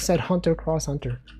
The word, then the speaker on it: Hunter x Hunter: This is where you go, Wolfie, you don't pronounce the X, bro. He said Hunter x Hunter.